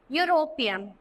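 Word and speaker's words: European: देखो अब आप बोलोगे यूरोपियन, तो हम इसको यूरोपियन नहीं पढ़ते, यूरोपियन पढ़ते हैं. देखो जैसे लिखा है ना यूरोपियन, तो यहाँ पे किसकी साउंड आती है? यू की आती है.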